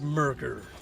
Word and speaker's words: Mercer: sake be careful where all that's left it's merker I hate M I hate m hate it's